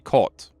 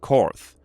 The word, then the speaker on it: Korth: So as far as I know, they are, or at least originally produced in Germany, so that would be Kort and not Korth.